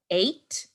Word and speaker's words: eight: Earlier on in the term, we did cover this spelling rule where you see E-I-G-H and you pronounce it as A.